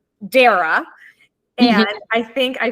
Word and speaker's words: Dara: to call myself out on something because you pronounce your name Dara and I think I pronounced it Dara when